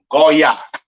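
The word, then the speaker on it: גוי: yah that stands alone goah all right this is how you pronounced uh Gentile or Heathen in the Hebrew all right now let's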